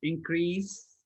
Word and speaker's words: increase: It's increase with sa sound all the time, guys. When it's a verb or a noun, it's increase, not increase.